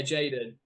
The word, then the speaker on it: JXDN: Yeah, Jaden. But you'll notice it's me.